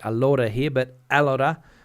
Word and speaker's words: Alora: Chris coming in from Alora I'll get that one there correct Alora Accent on the A on the first a uh I think Chris